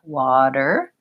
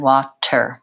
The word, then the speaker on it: water: puff of air so it sounds like water to water rather than walked her with a puff of air when I can correct